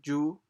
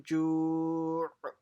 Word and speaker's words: جوع: It's not ju. It's الذي أطعمهم من جوع. So it has to end with an ayn sound at the end.